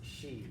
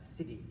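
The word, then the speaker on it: sídhe: years to figure out it's pronounced she and not city or whatever now you may not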